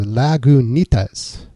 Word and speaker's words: Lagunitas: They even say how to pronounce it. It says Lagunitas.